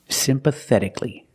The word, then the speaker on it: sympathetically: the adverb is sympathetically remember with c-a-l-l-y the a is silent so it's pronounced CLE sympathetically that t is between vowels so it's pronounced like a fast D simpatic pathetic sympathetically the th is the soft sound like think and thank you sympathetically example she